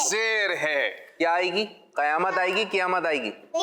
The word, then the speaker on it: قیامت: اصل جو اس کا تلفظ ہے وہ بھی ذہن میں رکھیں. کیا حق ہے؟ قیامت. کیا حق ہے؟ قیامت.